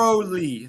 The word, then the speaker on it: thoroughly: The first word is one of the hardest words to pronounce in the English language. Okay. I Through, would say through, thoroughly, thoroughly.